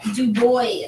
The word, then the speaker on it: Du Bois: Webb Du Bois is how you say it.